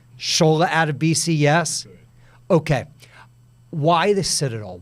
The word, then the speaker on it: Sola Adebisi: Let's start with the pronunciation. Sola Adebisi, yes?